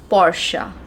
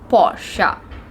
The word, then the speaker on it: Porsche: you call it right but the actual the correct pronunciation of this word is porsche porsche porsche so from now onwards